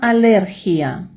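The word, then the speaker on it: alergia: ідея ена алерхія. Зверніть увагу, що в іспанській мові алергія має наголос на літеру наголосну е.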